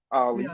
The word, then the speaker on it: Ollie: So I slapped a O from my name Ali. It's spelled O L L I E.